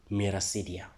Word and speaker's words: miracidia: When the eggs hatch, they will develop to a structure that we call miracidia. That's how I pronounce it.